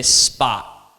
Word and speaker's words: spot: that's not American that's not me I say spa what's happening at the end no one really